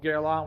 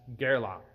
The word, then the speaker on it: Guerlain: closer to that but actual proper Parisian French which gerla is a Parisian brand therefore you think they would use Parisian French anyway they would pronounce it as Geron like that so the portm only